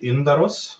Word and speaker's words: Yndaros: It's Yndaros. Yeah, in Swedish we say Yndaros.